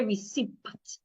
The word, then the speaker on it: receipt: Don't say receipt. The P is silent.